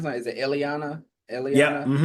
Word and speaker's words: Illyana: About any of um I mean with with and how do you pronounce that is it Illyana?